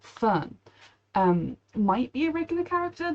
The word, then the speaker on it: Fern: Her name is actually, no, her name is similar to Frieren, and it's one syllable, Fern.